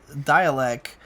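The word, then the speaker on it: Dälek: I was really into Dialect, which is spelled Dalek, but with an accent mark.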